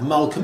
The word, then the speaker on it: Malcolm: of the books like Malcolm X it's not mine : you don't hear the L it's Malcolm and it's X it's